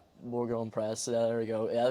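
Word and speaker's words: Bourg-en-Bresse: Um yeah, well, we'll start just in with your obviously moved to a new club, Bourjon Breon Breast. Am I pronouncing that? Borggon Breast. Yeah, Borggon Press.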